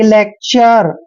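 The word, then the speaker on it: lecture: ई आया है तो इसको भी आर पढ़ेंगे यानी कि लेक्चर अर अर का साउंड आता है लास्ट में लेक्चर लेक्चर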